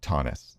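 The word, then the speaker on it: Thoennes: And I know how to pronounce Eric's name even though nobody else would unless you told them cuz Tonnus t h o e n n Yeah, that's confusing.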